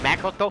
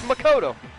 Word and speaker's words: Makoto: Makoto? No, that's wrong. That's not how you pronounce my name. It's Makoto. The nameplates on Mai and Sayaka's rooms got switched.